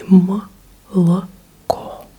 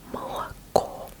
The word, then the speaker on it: молоко: In Russian, you pronounce O as an O, only when it's stressed. So молоко, the last syllable is stressed. So you say молоко, молоко, молоко.